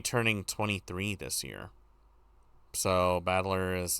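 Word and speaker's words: 戦人: Ba is made of the characters for fight and person. It's pronounced battler.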